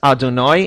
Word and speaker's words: Adonai: 4-letter name of God, which Jews pronounce as Adonai in the course of blessings and when reciting the Torah. and in other circumstances generally pronounce it as the word Hashem, which is a very well-known word in certain circles.